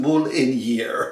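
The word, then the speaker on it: Marinière: It's pronounced Mouliniere.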